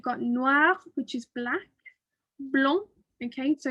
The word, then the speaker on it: blanc: Blanc, Okay, so it almost sounds like it's got a G on the end of that, yeah, because we're not pronouncing the D, but we are pronouncing it like a blanc, right?